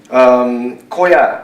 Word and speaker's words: koja: Koja, a word Koja in Swedish has the same pronunciation in Japanese, same meaning, so we call it Koja as well.